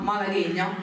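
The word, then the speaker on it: Malagueña: Allora, la prima rappresentazione di pianoforte di Nadia Mocciola, Malaghegna, vero, si pronuncia così.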